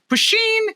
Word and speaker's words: puisheen: i will someday but it's pronounced pusheen and it's the automotive poetic sound of a cartoon sword being unsheathed but you can find